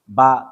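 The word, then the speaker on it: ب: দিব আলিফ আলিফ আলিফ বা বা বা এই বায়ের মাখরজ 15 নাম্বার মাখরজ মুখের দুই টোট থেকে এই মাখরজ উচ্চারিত হয়।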